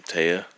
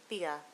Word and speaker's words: Thea: Taya, is it? Thea. Thea, okay.